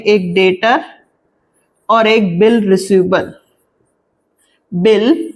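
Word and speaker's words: debtor: है वो मेरे कहलाएंगे डेटर बी साइलेंट होता है जो नए स्टूडेंट्स होते हैं वो बोलते डेबिटर डेबिटर नहीं होता है डेटर बी साइलेंट होगा तो मोहन मेरे हैं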